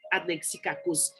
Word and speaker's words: anexikakos: Eh bien, anexikakos, ça s'écrit A-N-E-X-I-K-A-K-O-S, comme on l'entend. Ça s'écrit comme ça s'entend. Anexikakos, avec le X et les K.